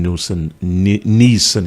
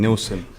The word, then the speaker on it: Neeson: be outraged by Liam Neeson? Is that how do you pronounce his name? Neeson. Yeah, you're doing my head in saying Nielsen.